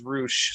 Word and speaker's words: Rush: is the same company pronounced Rush as roosh so uh black to